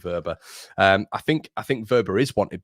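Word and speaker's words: Wöber: I keep changing the pronunciation, Leeds United community, for some reason. I say Verber, I say Wober, but I'm going to stick with Verber.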